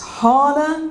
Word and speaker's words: Hala: So, I kind of go, it's Hala. It's a bit like Carla. It's just 2 syllables.